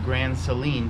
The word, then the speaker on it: Grand Saline: today we are in grand saline which texans pronounce it grand celine texas all right here